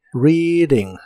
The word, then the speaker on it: reading: Reading que significa leyendo las letras e a de esta palabra se pronuncian como una I la larga o doble y la d de Reading la puedes pronunciar como d Reading o en inglés americano se pronuncia como r Reading Reading y usaremos el verbo